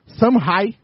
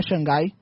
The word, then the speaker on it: Shanghai: No tênis, o Roger Federer foi campeão em Shanghai. Aprendi como se fala, não é Xangai. É Shanghai.